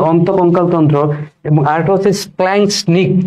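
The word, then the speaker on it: splanchnic: একটা হচ্ছে অন্তঃকঙ্কাল তন্ত্র, অন্তঃকঙ্কাল তন্ত্র, ঠিক আছে, একটা হচ্ছে অন্তঃকঙ্কাল তন্ত্র এবং আরেকটা হচ্ছে স্প্ল্যাঙ্কনিক। তোমাদের বইয়ে স্প্ল্যাঙ্কনিক লেখা আছে, স্প্ল্যাঙ্কনিক লেখা আছে, বাট এটা সঠিক উচ্চারণ হবে স্প্ল্যাঙ্কনিক।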